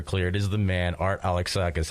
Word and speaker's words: Alexakis: good man really good now that you pronounce my name right everybody that doesn't happen very often I'm so happy alexakis Alexus Alexus no yeah alexakis I know this yeah but people people butcher it but you know what